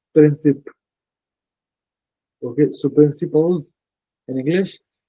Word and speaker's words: principes: keep in mind that in English we write principles okay but in French it's princip okay so I keep